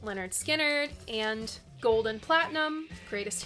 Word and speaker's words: Lynyrd Skynyrd: Then I have Unanswerable Lust by Luxuria, and some Lynyrd Skynyrd, pronounced Lynyrd Skynyrd, and Gold and Platinum, Greatest Hits.